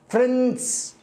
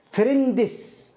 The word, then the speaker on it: friends: يعني مثلا أطلب من بعض طلابي أن يقرأ هذه الكلمة فيقرأها فريندس، فريند إس، هو يقرأ الإس كأنه إس، وطبعا إس الجمع لأنه فريند صديق، وفريندز أصدقاء، هو يتوقع أنه فريند ثم يضاف الإس فريندس.